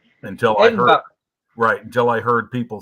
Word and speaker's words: Edinburgh: It's like listening to people trying to say Edinburgh. You know, for the longest time, I called it Edinburgh until Edinburgh.